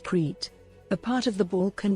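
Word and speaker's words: Crete: the name of the island of cres pronounced creit a part of the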